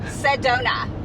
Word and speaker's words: Sedona: Sedona. Sedona. Yeah, Sedona. I'm not sure Give why. give me some donuts. That's how I remember donuts. I don't know. Sedona.